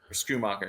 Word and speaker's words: Schumacher: And especially if Ferguson sits, maybe you look to take the value, with Shoemaker. But if he doesn't, then Schumacher is how you say it.